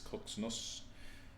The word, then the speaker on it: CZNS: I went into vision, the entity said its name should be pronounced as Koxnos.